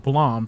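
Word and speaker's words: BLAME!: this one manga called Blom it's spelled blame b l m e uh but it's pronounced Blom for whatever reason and it's essentially about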